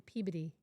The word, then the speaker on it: Peabody: It was, yes, near, we travel through Peabody, not Peabody, Peabody to get there.